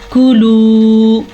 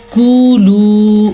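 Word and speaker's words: كُلُوا: ہوئے چلے جائیں آگے۔ کولو، اب اکثر لوگ اس کو پڑھتے ہیں کولو، کولو، یہ غلط ہے، یہ ہے کاف پیش کو، لیکن یہ ہے واو مدہ، لام پیش واو، لو، کولو۔ طیباتی، توا کو پر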